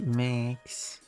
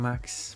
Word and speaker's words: Max: Or if you want to Englishify it, Max. But they are saying Max because that's the Swedish pronunciation.